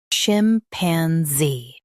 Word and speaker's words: chimpanzee: chim pan zee chimpanzee Stress zee and keep chim soft.